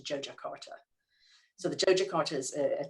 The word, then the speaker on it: Yogyakarta: how to pronounce properly it looks like yogyakarta that has actually said to joe jakarta so the jojocart is